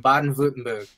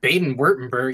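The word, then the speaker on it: Baden-Württemberg: the Germans are from bad and vlutenberg and that's how you say it it's fun to say when I first read it I was like Baden wurtenberg or something but it's Bob yeah you know people call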